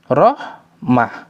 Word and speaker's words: رحمة: Ketika ditulis dengan tak maftuha atau tak marbuto, maka berhentinya dengan huruf ha, rahmah. Namun di beberapa ayat ditulis dengan bentuk tak maftuha, rahmat. Maka ketika berhenti dibaca dengan rahmat, bukan rahmah.